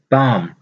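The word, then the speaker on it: palm: पाम। पाम कहते हैं हथेली को, पाम। इसमें एल जो है वो साइलेंट होगा।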